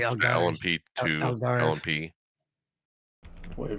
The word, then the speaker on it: Algarve: Now, I mispronounced it just for the word. My dyslexia kicked in. It's actually Algarve.